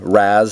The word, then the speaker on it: Ra's: figure I have or Raz depending on how he is pronounced in what medium Raz is how he was said in Batman Begins uh re I believe